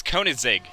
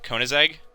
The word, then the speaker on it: Koenigsegg: It is Koenigsegg. I think that's how you say it. Koenigsegg? Sure. I'm trying to think of, like, the car brand, Koenigsegg.